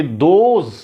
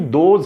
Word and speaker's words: those: एक और important thing that I need to tell you कि दोज जो THOSE है ये वाला, इसका प्रोनाउंसिएशन एक्चुअली दोज है ना, कुछ लोग इसको दूज पढ़ते हैं, सम ऑफ द स्टूडेंट्स, तो ये दूज नहीं है, ये दोज है।